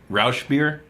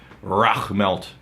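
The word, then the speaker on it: Rauch: So some people pronounce it Rausch beer. Or Rach beer. No. We're accurate. Some people pronounce it Rausch beer, and we did a tremendous amount of research, unheard of levels, unprecedented even, and we looked at a YouTube video and it's pronounced Rach malt and Rach beer.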